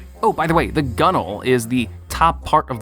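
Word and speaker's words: gunwale: It's also really terrible to pronounce if you don't know that it's called a gunnel. Like, how am I supposed to know that that's gunnel?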